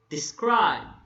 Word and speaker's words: describe: Describe. The first syllable is unstressed and the second syllable is stressed.